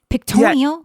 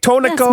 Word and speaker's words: Pictonico: Pictonio? Pictonico? That's Pictonico.